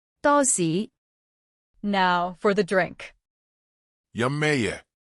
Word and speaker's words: 多士: The word for toast can sound a bit funny. It sounds as 多士.